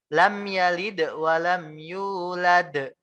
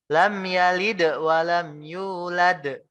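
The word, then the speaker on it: لم يلد ولم يولد: Lam yalid wa lam yulad. Ini yang benar. Lam yalid wa lam yulad. Kenapa dipakein de? Karena ada qalqalah di sana.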